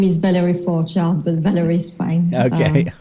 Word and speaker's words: Forgeard: that i butcher so i will let her pronounce that for you as well so yes my name is valerie for child but valerie is fine okay okay i tried